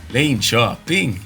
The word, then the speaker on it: Linköping: Linköping.